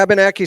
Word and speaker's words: Abenaki: Is that how it's pronounced? Yeah, Abenaki Ski Club.